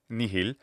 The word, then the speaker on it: nihil: da lo cam christo she pronounces nihil with an h sound and that's interesting because